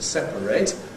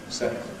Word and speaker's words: separate: So the verb has to remain as 3 syllables to separate, whereas the adjective can get you 2 syllables, separate.